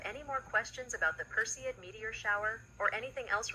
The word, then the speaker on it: Perseid: name of the medeia shower how do you pronounce that word the meteor shower you're referring to is announced as perid it's one of the most popular and well-known